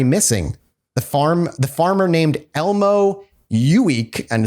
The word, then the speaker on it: Ueeck: the farmer named Elmo Uweek, and it's a weird name, literally Elmo, and his last name is spelled Ueeck.